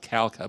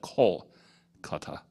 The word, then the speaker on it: Kolkata: Not Calcutta, but Kolkata. Anyway, that's something else again. We often mispronounce other countries.